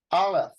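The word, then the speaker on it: aleph: bait but Resh are alef they they actually say it's a silent letter and you don't uh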